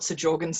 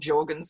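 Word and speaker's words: Sjögren's: But mum has fibromyalgia and she has osteoarthritis and she has, I call it Sjogren's syndrome, but I think it's called Sjogren's syndrome. I think the S is silent.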